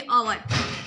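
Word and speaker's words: hour: Spelling में वो उसका प्रोनाउंसिएशन नहीं होता, जिसको साइलेंट लेटर कहते हैं। लाइक सबसे पहले देखिए अवर, अवर इसमें एच है, जो कुछ लोग कैसे पढ़ते हैं हवर, ओके हवर, इसको हवर नहीं पढ़ते, इसको क्या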